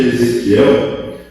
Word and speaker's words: Ezequiel: Ezequiel. É difícil pronunciar.